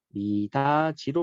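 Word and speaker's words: 미닫이: 미다지는 미다 플러스 이네요. 그래서 요 접사 이가 붙었으니까 미다지로 발음이 날 거예요.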